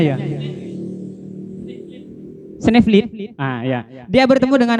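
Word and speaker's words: Sneevliet: Benar kak bacanya ya? Sneeuwwit.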